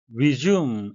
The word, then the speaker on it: resume: Resume, S는 Z 발음이고요. U는 장음으로 하셔야 되겠습니다.